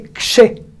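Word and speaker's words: כש: Et donc, ils ont bien dit, attention, c'est pas ché, c'est kshé. Ah. Et c'est vrai que c'est difficile aussi, même pour quelqu'un qui n'est pas israélien, de dire kshé.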